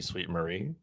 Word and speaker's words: Sweet Marie: to forgive the pronunciation is it sweet Mary or sweet Marie for the Canadian Fun Size uh am I going here should be sweet Marie sweet Marie so that's so yeah